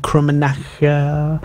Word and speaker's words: Krummenacher: But yeah, so World Supersport, it was Randy Krummenacher. Yes. Is that the correct pronunciation?